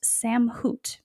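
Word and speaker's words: סמכות: But the Hebrew word for authority is pronounced samhut, and it means spiritual authority.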